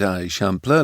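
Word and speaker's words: Eixample: That's the I shampler, he explained, pronouncing it a shampler like a local might.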